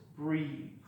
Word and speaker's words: breathe: Breath and breathe. Okay, the long vowel sound with the silent E on the end. So the first one is breath, and the second one is breathe.